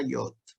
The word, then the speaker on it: Yod: Esta es la Yod, ¿no? Es la más chiquitita. Y se translitera como una Y. ¿Ah? Se pronuncia como cuando nosotros decimos yerba, por ejemplo. ¿Ah? ¿Ah? Se pronuncia de esa manera. ¿Ah?